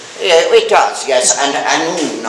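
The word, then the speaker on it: Annwn: Yeah, it does, yes, and Anún, or as it was pronounced in Old Welsh, Anún is the modern Welsh pronunciation.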